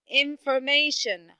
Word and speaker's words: information: about the word information information how many words you how many syllables do you hear stressed in this word very good do i have the first syllable and the third syllable very good now we